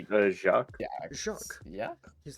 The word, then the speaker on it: Jacques: His name is Jax, or whatever the fuck is the French. You pronounce the French names. I believe it should be Jacques.